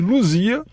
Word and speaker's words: Lusia: por lins e haris eu não sei porque eles pronunciam lucy mas enfim pelo que eu vi isso escreve-se luzia mas o pessoal lá pronuncia lucy réus que foi a